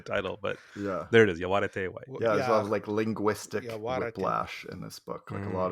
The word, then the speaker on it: Yaguareté: the title of the book is Yaguareté White, which comes from the Guarani and means, essentially white jaguar.